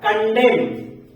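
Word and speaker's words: condemn: के शब्द आते हैं एम और एन अगर साथ में आते हैं तो उनमें से एन हमेशा साइलेंट हो जाएगा ओ व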